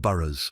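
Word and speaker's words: burh: He envisioned a network of fortified towns called burrs, pronounced burers, spread strategically across Wessics.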